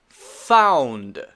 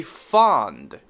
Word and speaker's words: found: Found. Found. Be careful not to say fond, which is a different word. F-O-N-D. Fond is a very different word. Okay, so be careful to say ow.